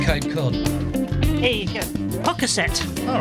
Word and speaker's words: Pocasset: How'd you pronounce that place with a P in Cape Cod? Here you go. Pocasset.